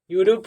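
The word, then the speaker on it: Europe: जो पी हो गया उसे प, यूरोप हो गया।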